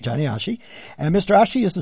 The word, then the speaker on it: Johnny Achi: Do I pronounce that right, by the way? Correct, Johnny Achi. Johnny Achi.